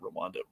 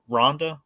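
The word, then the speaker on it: Rianda: I mean, this is a personal story for Mike Rwanda, not Rwanda, Rhonda. It's weird because it's spelled with an I.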